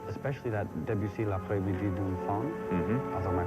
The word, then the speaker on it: L'après-midi d'un faune: What I loved about it is, like, especially that Debussy, L'après-midi d'un faune, although my pronunciation is terrible. D'un faune. L'après-midi d'un faune.